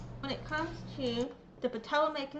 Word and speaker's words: Patawomeck: to the Patawamik name, the pronunciation right here is how it's pronounced. Nestled upon the banks of the Rappahannock River, and we're very excited about the future of the Patawomeck tribe.